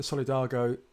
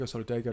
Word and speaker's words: Solidago: the golden rod is the solidargo sorry dargo solidago don't you pronounce it is mostly it's